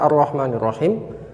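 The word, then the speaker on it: الرحمن الرحيم: baik selanjutnya adalah arrohmanirrohim ketika membaca arrohmanirrohim roknya itu harus tebal karena roknya berharokat fathah maka roknya harus dibaca tafkhim out Wah me ingus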